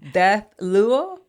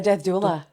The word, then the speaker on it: death doula: Like, I was super impressed when I read, and I may mispronounce it, Death Luo? Oh, a death doula.